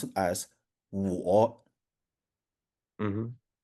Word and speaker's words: 我: And so you have it as now basically when you see this one, it's okay, I'll pronounce it as 我 Mm-hmm.